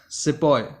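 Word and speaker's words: sepoy: After that सिपॉय, सिपाही, Hindi word आपने सुना होगा सिपाही, ये उसी तरह का एक सेपोय वर्ड है जो इंग्लिश पीपल यूज करते थे इंडिया में। So this is हाउ the British pronounced the word सिपाही, जैसे मैंने आपको बताया, जिसका मतलब होता है सोल्जर।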